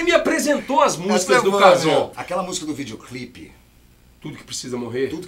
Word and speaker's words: Kazown: Cazon, sonho, se escreve com CH. Só que quando a gente ia pros eventos fazer, o povo chamava de Chazon. E não é Chazon.